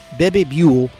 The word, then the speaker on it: Bebe Buell: model and would-be singer Baby Buell, I guess that's how you pronounce her name, B-U-E-L-L, Bebe Buell, who wanted excuse me,